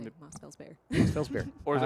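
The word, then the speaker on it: Mosfellsbær: Moss Fells Boyer. Is that Mossfell's bear? It's the A and the E that are A, connected. yeah. Yeah. Yeah. That's what I'd say. Yep. Mossfell's bear.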